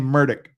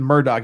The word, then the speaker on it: Murdaugh: from the police car he pronounces his name murdick it's not even Murdoch he pronounces it murdick uh so we'll start